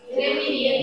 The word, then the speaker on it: Gemini: Gemini atau Gemina itu bacanya? Gemini. Gemini.